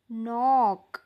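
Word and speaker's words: knock: चा उच्चार होत नाही नंतर नील नाईफ नीट नॉक बघा ्या शब्दांमध्ये के लिहिलेला आहे पण त्याचा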